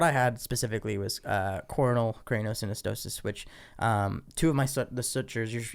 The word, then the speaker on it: craniosynostosis: But for you, let's kind of talk a little bit on a personal level too, because you also had it's called craniomyoplasia. Yeah, craniosynostosis. Craniosynostosis.